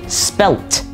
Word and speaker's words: spelt: l l e d so when you're spelling it like this you're going to say spelled with a d a d sound compare that with the British form spelt with a t so there is that